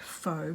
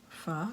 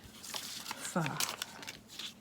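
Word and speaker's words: phở: over the top and it looks like faux but it's actually pronounced far someone will tell me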